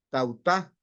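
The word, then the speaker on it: ταῦτα: La palabra esto en griego es tautá, con acento en la U.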